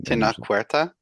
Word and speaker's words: Tenoch Huerta: I'm sorry, Tenoch Huerta.